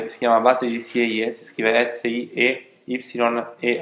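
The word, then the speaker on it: Sieyès: L'abate di Sieghe. Vi ho detto, pagina 174, vi parla di un abate che si chiama Abate di Sieghe, si scrive S-I-E-Y-E accento grave S, che era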